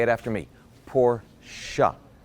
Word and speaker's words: Porsche: now while we're on the subject it's actually pronounced Porsche up say it after me poor siya it's not Porsche there you go this pronunciation lessons been brought